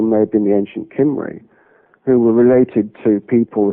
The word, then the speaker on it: Cymry: Well, it's the sound is with a sharp K as a K, but it's actually written with a C, a soft C, if you like, Cymry. Okay. But the K is pronounced with a hard K, if you like, as Cymry.